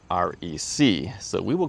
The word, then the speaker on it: REC: And they said it is pronounced REC.